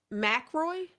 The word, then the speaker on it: Mackroy: Uh, Mackroy. Correct. Okay, man, she's stretching me today. I'm gonna have to remember this because I'll get Mackroy. Correct. Yes, Okay, ma'am. it is pronounced exactly how it looks.